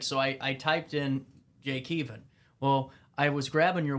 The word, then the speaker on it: Keevan: People pronounce it Keevan, like a van, like a driving van.